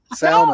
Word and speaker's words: salmon: The L is silent. Salmon.